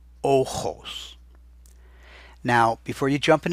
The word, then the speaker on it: ojos: That kind of rough grating H-type sound is always written as a J in Spanish. So when you hear ojos, don't put an H in the middle there. And now you can see